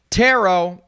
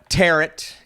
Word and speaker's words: tarot: beach please because why tarot or as I like to call it teret because it kind of rhymes with carrot that's probably the most